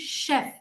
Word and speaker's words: chef: right yeah thank you the first word is not Chef okay it is Chef like chef Chef okay it's not chef